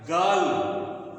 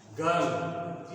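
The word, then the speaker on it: girl: और इसको ऐसे लिखेंगे ये पढ़ा जाएगा गर्ल गर्ल नहीं पढ़ा जाएगा गर्ल पढ़ा जाएगा गर्ल गर्ल ये जो र है वो राउंड करता है और ये पूरा प्रोनाउंस नहीं होता यहां पर इसको पढ़ा जाता है गर्ल हा और उसी तरह से जैसे बर्ड को पढ़ते हैं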